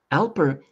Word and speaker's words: Alper: can't I can't say that name g yeah Alper now Alper I have never heard that name Alper before